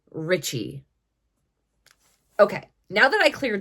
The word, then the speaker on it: Ricci: Italians spell that surname they just pronounce it reachi whereas like I said I believe that it is actually Richie okay now that I